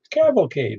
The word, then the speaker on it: cavalcade: How do you pronounce that again? Cavalcade, man. C-A-V-A-L-C-A-D-E. Cavalcade. C-A-V. Not like Civilcade, but Savalcade. Cavalcade.